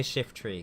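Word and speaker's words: Shiftry: shift shift re Shifty it's spelled shift Tre not shift tree or shift try I'm going to say shift tree cuz that that just makes sense I don't know why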